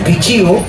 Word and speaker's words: pichiu: Pichu dice Pichu, ¿no? Es pichiu.